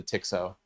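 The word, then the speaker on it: TX-0: Everybody Everybody pronounces it the Tixo.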